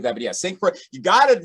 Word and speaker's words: St. Croix: But if you're not, like, well, it's pronounced C-R-O-Y.